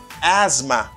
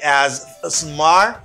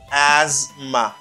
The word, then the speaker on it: asthma: to pronounce why because you don't pronounce the th here this th that you have is silent you say asthma you don't say as smart it's hard to say